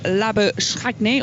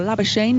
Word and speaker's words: Labuschagne: And that, of course, is Marnus Labuschagne, or Labuschagne, depending on how you want to try and pronounce it.